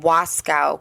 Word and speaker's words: Wasco: Northwest United States located in wascow County Oregon I didn't want to say that wrong and accidentally say Waco just didn't want to say it wrong it was incorporated as